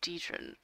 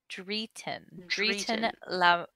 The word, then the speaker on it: Dritten: I'm looking for a person by the name of Dietrin. Oh no, hold on, I said it wrong. Ignore me. Dritten.